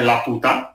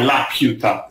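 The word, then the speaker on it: Laputa: Solo che lui lo pronuncia in inglese, quindi non è la puta, come sarebbe stato in spagnolo, ma è la piuta in inglese.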